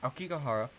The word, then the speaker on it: Aokigahara: I still don't know how to pronounce it. Fuck. Aokigahara? Aokigahara? Yeah, Aokigahara.